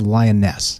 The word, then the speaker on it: Lyonesse: Land of the Lost land of lioness is how you say that and I'll just tell